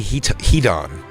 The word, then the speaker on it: Heaton: It is our lovely, lovely new friend, Jenny Heaton. Heaton. It's spelled Heaton. Yeah. Yeah. Like turn the heat on.